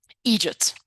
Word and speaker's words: eejit: real jerk in Ireland the way they pronounce idiots is to say excuse me egy so my brain is